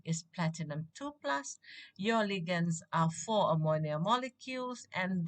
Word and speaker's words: ligands: word ligands what are ligands remember they're not ligands ligands is wrong the pronunciation is ligands now ligands are molecules or ions having one